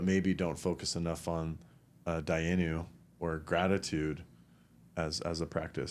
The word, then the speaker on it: dayenu: There's this really powerful practice in old Jewish culture or religion, which is called dayenu.